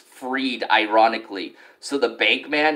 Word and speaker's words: Fried: he should be fried his last name is pronounced freed ironically so the bank